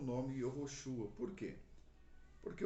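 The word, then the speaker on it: יהושע: Porém, como se pronunciava o nome Josué no Antigo Testamento? Yehoshua.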